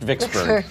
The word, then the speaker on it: Vicksburg: It's pronounced Vicksburg.